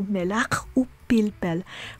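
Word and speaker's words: מלח ופלפל: So to summarize, when the word being attached to the conjunctive vav is pronounced with a m, b, v, f, or p, we pronounce the conjunctive vav as u.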